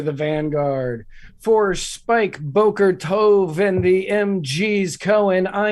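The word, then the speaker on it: טוב: Boker Tove is not terrible. That was good. I think it's Tov. How would Tov. I was like, is it Tov or Tove?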